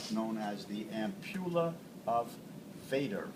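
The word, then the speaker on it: Vater: as the Ula of Vader v a t in German it's pronounced fata uh so uh it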